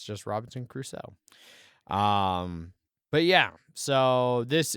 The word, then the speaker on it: Crusoe: uh which i will i will actually pronounce it crusoe uh i'll uh i've learned after being mocked relentlessly way back in the day for the robinson caruso yeah uh it's not